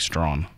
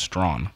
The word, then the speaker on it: Strachan: It's actually, you pronounce it Mike Strawn. Strawn? Strawn. How does Mike Strachan pronounce his name? His last name is pronounced Strawn. The things you learn. What? The CH is silent?